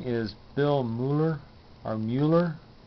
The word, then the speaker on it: Mueller: All right, well, I'm studying something new, and I believe his name is Bill Muller or Mueller. I don't think it's Muller. It's pronounced Mueller, I think.